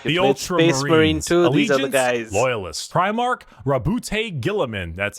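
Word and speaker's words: Roboute Guilliman: Rabbout Gillamin.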